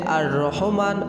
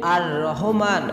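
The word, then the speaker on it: الرحمن: আমলটি হচ্ছে মহান রব্বুল আলামিনের গুণবাচক দুটি সিফাতি নাম, নামটির উচ্চারণ হচ্ছে আর রহমান আর রহিম। আর রহমান আর রাহিম এ দুটি নাম প্রমাণ করে যে আল্লাহ তাআলা পরম দয়াময়, অতি দয়ালু।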